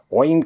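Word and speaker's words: Eoin: else took over right in in that universe ian colfer wayne colfer as you pronounce it author of the artemis fowl series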